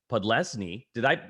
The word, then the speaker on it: Podlesny: Joining me on this segment is Mandy Podlesny. How did I pronounce that?